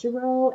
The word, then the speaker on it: Girot: expectations and class contract I'm Mrs jro and it is pronounced frenchly my cell phone number